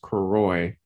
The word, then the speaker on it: Carroy: Well, the first name is actually pronounced Carroy, but most people call me.